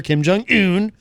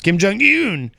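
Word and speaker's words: Kim Jong Un: talked up his relationship with North Korean leader kim jong hoon which is the correct way to say it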